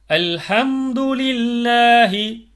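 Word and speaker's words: الحمد لله: லில்லாஹி, லில்லாஹி, அல்ஹம்துலில்லாஹி, அல்ஹம்துலில்லாஹி, தீனில்லாஹி, தீனில்லாஹி, குலில்லாஹும்ம.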